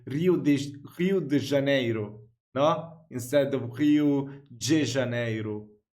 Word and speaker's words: Rio de Janeiro: It's pronounced Rio de Janeiro, not Rio de Janeiro. Get it right. We're not in Mexico. This is Portuguese.